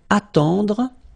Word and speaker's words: attendre: Then, attendre. Attendre. Remember, final E, you don't insist on it. It just gives you the possibility to pronounce the dr, dr.